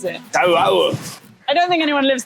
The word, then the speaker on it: Toau: You have to pronounce every vowel in the name. So it's T-O-U-A-O-U. Ha-U-A-O-U. That's exactly how you pronounce it. Toau.